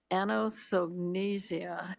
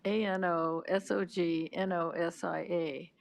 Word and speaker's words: anosognosia: It's it's ano anosognosia, something like that.